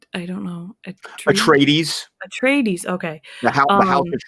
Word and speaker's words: Atreides: Atreides, Atreides, okay.